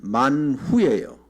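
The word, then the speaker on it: מן הוא: 모르시다니 만나는 히브리입니다 히브리어인데 원래 원래 히브리어로 말하면 만후예요 만 후 근데 이제 미국 사람들이나 영국 사람들이 발음을 좀 이상해서 많은 하다가 만나만 하다 만나가 된 거야 근데 만 후라는 뜻은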